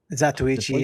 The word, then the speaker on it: Zatoichi: Am I even Yeah, pronouncing that right? Zatoichi, yeah, Zatoichi?